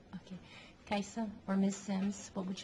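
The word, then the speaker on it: Kiasa: s i Ms okay and how do you pronounce that kaisa okay kaisa or Miss Sims what would you like to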